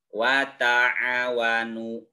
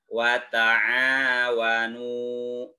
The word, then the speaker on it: wata'awanu: ini nih ada keterangan dibaca dua ketukan NU dua ketukan ini juga aduh dua ketukan Kenapa dua ketukan karena ini dinamakan dengan madpop by atau mad asli dibacanya panjang panjangnya dua ketukan wata'awanu tidak watak nyawanu tidak seperti itu tapi yang benar wata'awanu lanjut Alal birri Alal